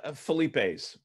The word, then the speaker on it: Philippe's: Is it pronounced Philippe? Philips? Philippe's? Philippe Philippe's? And I love reading some of these question answers. It's Felipe's, quickly, Felipe's.